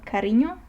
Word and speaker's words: cariño: And if we move on, we have ñ, which is pronounced like the combination of N and Y in the word canyon, for example. So let me show you a Spanish word for that. Let's say cariño, which is used between